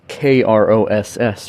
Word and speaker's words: Kross: That's Kross for everyone that's wondering. It's spelled with a K, because that's what Korg does.